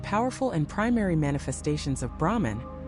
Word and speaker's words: Brahman: Beyond Brahma, Vishnu and Shiva, Hindu philosophy speaks of Brahman, not Brahma, the creator, but Brahman spelled with an a at the end.